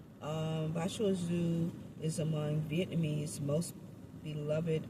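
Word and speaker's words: Bà Chúa Xứ: Uh it is spelled B A C H U A Z I'm sorry X U. Bachu Zoo. Um, Bashu Zoo is among Vietnamese most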